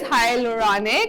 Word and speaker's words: hyaluronic: It's always funny because it's spelled like H-Y-A, so you don't know if you want to say hi, you want to say hyaluronic. Anyways, it is hyaluronic.